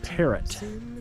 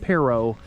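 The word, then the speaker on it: Perrot: And it is it looks like it's spelled parrot, but it is pronounced perro because that is for Nicholas Perro, who was a French explorer to this area in the 1700s.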